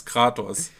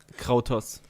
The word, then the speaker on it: Kratos: it about English, then it's just natural to pronounce his name how English pronounce would wrong, instead of the right way, which is Kratos. And I mean, I had 4 years of Latin. Kratos.